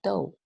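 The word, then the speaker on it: 豆: the right bottom part of this character is pronounced as dou which bears the meaning of a food container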